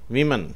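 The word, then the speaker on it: women: தண்ணீரை குறிக்கும் அடுத்த வார்த்தை விமன் விமன் என்று சொன்னால் பெண்கள் என்ற பொருளை தருகிறது இதை இப்படித்தான் உச்சரிக்கணும் wo என்று வந்தாலும் அது wo உச்சரிக்கப்படுகிறது விமன் என்று உச்சரிக்கப்படுகிறது 523 ஸ்பீக் ஸ்பீக் என்று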